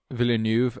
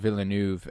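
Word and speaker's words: Villeneuve: Uh Villanuv, I feel like is actually how you pronounce his name. I I I I remember hearing people at the Oscars saying Villanuv and I was like, "Oh, Villain."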